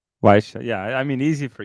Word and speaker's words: Carl Weische: What's the best name to pronounce her name? Carl Weische. Weische.